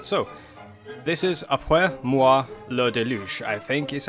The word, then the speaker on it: moi le déluge: talk about it so this is a player moi le déluge I think is how you pronounce it I took one year French I